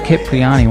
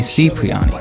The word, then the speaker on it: Cipriani: He pronounces it Capriati when it should be Cipriani.